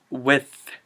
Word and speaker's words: with: Okay, this last word is another example of unnecessarily shortening a one syllable word, and it's wit. It's with. Wit is humor. Wit is slight humor. Just say with.